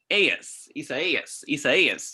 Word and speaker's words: Isaias: Yeah, it's tropical storm Isaias. That's how they pronounce it.